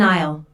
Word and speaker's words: aisle: who does which task I'll notice the silent s in aisle an isle is an